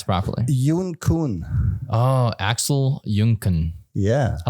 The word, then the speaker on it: Junkuhn: it easy for the lazy people yeah Axel Junkin yeah hi how do you pronounce it properly go and pronounce properly oh Axel junkan yeah I like that that's it's dope yeah